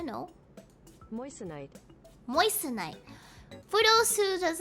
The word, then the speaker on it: moissanite: mineral is apparently called moistenite let me check the pronunciation because people need to know moissanite moistenite just like yeah